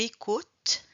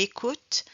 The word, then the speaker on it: écoutes: On ne prononce pas le S ni le E.